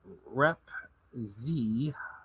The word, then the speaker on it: Repzion: Repzion.